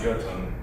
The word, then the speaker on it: Jotun: I think that J might be silent, Jotun. It's a Y. It's spelled almost all the time with a J. Well, it's pronounced with a Y. It is pronounced with Y, thank you.